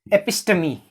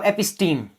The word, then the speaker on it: episteme: So before this, let me talk about episteme or episteme. Episteme is the correct pronunciation.